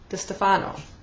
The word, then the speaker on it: DeStefano: uh chemical Garden Trilogy and it's by Lauren de Stefano that's how it's pronounced and um it's followed by fever and